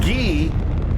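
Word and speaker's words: ghee: It's pronounced Gee.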